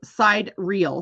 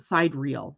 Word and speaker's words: sidereal: doing something different with my life confusion Tom it's spelled side real so why not pronounce it side reel AKA Scottish country dancing astrology that's funny uh